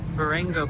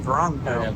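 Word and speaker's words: Vrångö: We chose Vango, but we're uh Verango. Did you hear how they pronounced it? But um Wrongo, I think. Verango.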